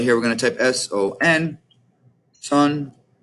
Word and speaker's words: son: So right here, we're going to type S-O-N. Son. Looks like sun, right? But notice in Spanish it's son.